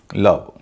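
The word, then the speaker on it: love: उ होता है जैसे ओ के बाद जब वी एम और एन होता है तब ओ का उच्चारण अ हो जाता है जैसे एल ओवी ई लव डी ओवी ई डव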